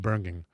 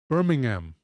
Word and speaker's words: Birmingham: It's not Berging. Birmingham. Bir Birmingham. Birming Birmingham. I always say Birmingham here anyway. I don't have to say it like the English say it.